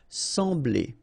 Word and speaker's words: sembler: So EM will give you the sound en. Okay, so you don't pronounce the M, you just get the sound en. Sembler.